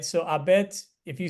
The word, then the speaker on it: habet: to aspirate right so abet if you say abet it's okay but you can probably sense it's very faint so you don't say